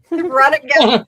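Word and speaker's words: Radagast: It is a He is the Radigast, right?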